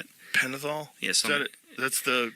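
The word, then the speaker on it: Pentothal: Penithol.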